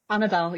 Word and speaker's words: Anabel: Do I say it right? Anabel? Anabel, yeah.